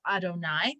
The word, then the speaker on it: Adonai: our names of god we have the yud hey and vavhay name of god which we pronounce adonai when you see yudhi